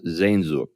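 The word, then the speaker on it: Sehnsucht: this uh spelling but it's spelled s-e-h-n-s-u-c-h-t it's pronounced zen zhuk just so you know so if you're looking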